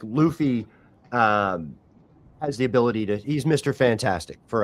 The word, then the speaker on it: Luffy: So, no, it's Luffy. It's Luffy. Monkey D Luffy.